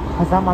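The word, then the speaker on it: 飯山満: ね、名前、これで狭間って読むらしいです。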